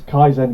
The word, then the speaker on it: Kaizen: of you say it for me it is kaisen Gameworks kaisen game works okay perfect uh so